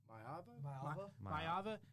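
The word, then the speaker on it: Maiava: USC quarterback Mayava.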